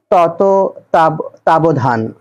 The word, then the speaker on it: তত্ত্বাবধান: এটি হল নেতিবাচক বাক্য তত্ত্বাবধান শব্দের সঠিক উচ্চারণ কোনটি এর সঠিক উচ্চারণ তত তাবধান মুক্তিযুদ্ধ ভিত্তিক উপন্যাস নয়